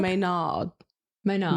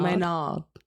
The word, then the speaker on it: Maynard: It's pronounced more like a nice glaze over the nod, like N-A-R-D, but it's an R. You know what do you understand? Maynard. Maynard.